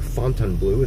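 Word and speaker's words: Fontainebleau: the strip now with the fountain blue or Fontan blue as I've heard it pronounced by others cuz it is spelled f o n t a i n but the fountain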